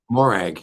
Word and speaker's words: Morag: Morag. Yep, just as it's spelled.